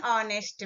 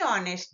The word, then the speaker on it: honest: sound is o sound H is silent right and O is a vowel sound an honest man is